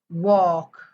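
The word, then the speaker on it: walk: sorry it's एल के एल के आल्यानंतर L silent असतो वॉक टॉक डब्ल ए एल के एल K directly L silent करायचं वॉक म्हणायचं टॉक म्हणायचं okay next बघूया पी एस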